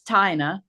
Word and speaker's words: Tinina: um my name is it's spelled like Tina but it's tinina tinalo um I've been